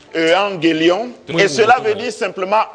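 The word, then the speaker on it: εὐαγγέλιον: Evangelium, qui est ce mot latin est tiré du grec ancien, qui se prononce Evangelion, et cela veut dire simplement bonne nouvelle.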